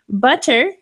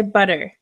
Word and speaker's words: butter: Butter, or I would say butter. Like I'm saying B-U-D-E-R, butter. But I'm not. I'm saying butter with the two T's.